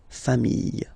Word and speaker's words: familles: the plural form, les familles. Okay, remember, chien, singular form, chien, same pronunciation, but you put this S. Okay, final S, not pronounced. Famille, singular form, famille, plural form, same pronunciation, S, not pronounced.